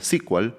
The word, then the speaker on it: SQL: a llamarse SQL y por eso es que hasta ahora se pronuncia sequel y no SQL, aunque SQL también es correcto.